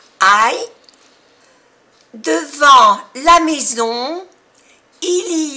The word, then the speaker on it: devant: Devant, A-N, en. Es una vocal nasal en francés. En. Devant. La T no se pronuncia. Devant.